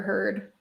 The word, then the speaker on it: Heard: Now talk about Amber Heard. Well, her name rhymes with turd.